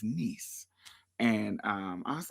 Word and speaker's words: Nice: Vincetti said, "Yes, that's how it's pronounced if you're reading it in English, but um the pronunciation there is niece."